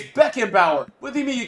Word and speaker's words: Beckenbauer: why do you say stop saying baking powder can you just say the name right bro why you keep saying baking powder bro you dropped me crazy i can't spell it it's beckenbauer what do you mean